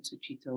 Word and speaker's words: Sucitto: So his name is spelled S-U-C-I-T-T-O. So Su means good, like dukkha, sukha. Su is good, and chitta is mind, heart. So good heart, good mind.